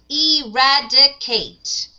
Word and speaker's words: eradicate: Eradicate. So counting with your fingers. Eradicate. How many syllables do we have? We have five. So eradicate. We have four syllables.